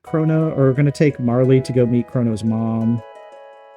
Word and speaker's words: Marle: But same thing for Marley. Like, I know her name is Marl, or at least some people pronounce it Marl, but I always called her Marley.